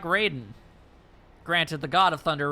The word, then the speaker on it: Raiden: Raiden is how it's pronounced in Mortal Kombat. So, Raiden.